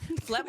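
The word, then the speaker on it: phlegm: now do you um FL also is not spelled how you think it's spelled f l e a u g h yeah it's p h l e g m it's crazy that's so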